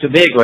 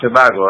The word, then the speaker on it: Tobago: It's pronounced Tobago, not Tobago, eh?